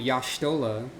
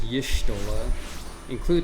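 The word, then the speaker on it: Y'shtola: w at some point there's a character named yashtola that's how you're supposed to pronounce it according to the rules but everyone says yishtola me most of the time anyways greetings madam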